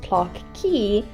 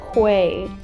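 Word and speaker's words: Clarke Quay: So here we are at this place, which is pronounced Clark Key, despite it very much looking like Quay.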